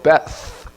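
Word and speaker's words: בית: 원래 트가 아니고 베스, th 영어 발음인데요.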